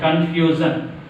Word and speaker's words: confusion: A word ending with ION take stress on which syllable? Second syllable from the end. From the end, second syllable one.